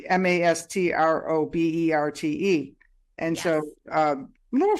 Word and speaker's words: Mastroberte: And I'll have the links in the chat here so that you know how to reach her, because the name is like Mastroberte, which is pronounced Birdie, Mastroberte.